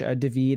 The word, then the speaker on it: Daveed: Daveed is like the pronunciation of David in Hebrew.